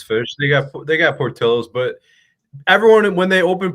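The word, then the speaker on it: Portillo's: I used to call it portillos because we don't pronounce L's in in California.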